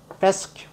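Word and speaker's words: fescue: 이걸 부드럽게 회라고 했는데 페스큐 이렇게 발음하면 됩니다.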